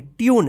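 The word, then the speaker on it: tune: ई इसको क्या पढ़ेंगे ट्यून देखिए यू उच्चारण हुआ है ना ट्यून ट्यून पढ़ेंगे टने मत पढ़िए टून मत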